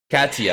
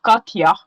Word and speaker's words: Katia: i remember you know in my country they say it katya and in swedish it's like pretty the same but you know i